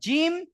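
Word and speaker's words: ج: ছাড়া একটু আগে, আর জিম শিন ইয়া এই 3টি অক্ষরের মাখরাজ হলো জিহবার মাঝখান তার বারবার উপরের তালু, জিহবার মাঝখান এবং তার বারবার উপরের তালুর সাথে লাগিয়ে উচ্চারিত হয় জিম শিন ইয়া।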